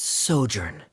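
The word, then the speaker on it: sojourn: Uh, director Zosimos, how do you pronounce this word? Let me see. Ah, that's Sojurnn.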